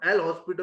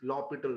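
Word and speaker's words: L'Hôpital: It is not L hospital rule, it is L'Hopital rule, LHOPITAL, L'Hopital rule।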